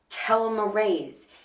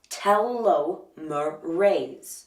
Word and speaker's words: Telomerase: me her stuff anyways tell em a raise it's pronounced tell lo mer raise yeah that's what i